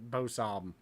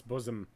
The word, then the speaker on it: bosom: you mispronounce that ah most of the people I have seen on like YouTube and stuff to try and pronounce that crown took Bo ssam why I don't know but its bosom yeah how did you